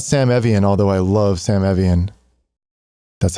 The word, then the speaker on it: Sam Evian: It's not Sam Evian, although I love Sam Evian.